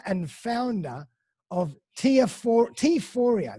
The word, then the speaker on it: Teaphoria: founder of tier four t fourier that's how i pronounce it yeah euphoria yeah so for everybody